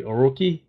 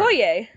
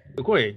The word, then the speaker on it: Okoye: I can't pronounce her name correctly. Oroki? Who? The Panther's sister. Oh yeah. No! Wait. Yeah. No, you mean the guard. The guard. Okoye. Okoye.